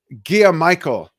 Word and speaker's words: Gia Michael: Going back to comments real quick, Gia Michael is what Daniel says his last name is. Thank you so much for that. That's how you pronounce it.